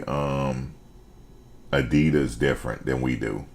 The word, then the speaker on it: Adidas: you say it yeah it's um Adidas that's how you really say it it's Adidas I can't wear no